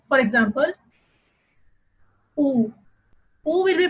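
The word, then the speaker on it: où: For example, oo. Oo will be pronounced as oo because, as I said, there will be no change in sound of U when there is accent grave over it.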